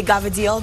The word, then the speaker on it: cavatelli: We pronounce back east, we say Gavadil. That's like the Italian way.